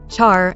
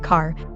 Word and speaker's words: char: Char is usually pronounced char, not car.